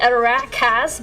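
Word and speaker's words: Arachas: Well, I think everyone by now knows I pronounce it Arajas, but apparently it should be Arakas, but I think the former sounds a lot better when I say it.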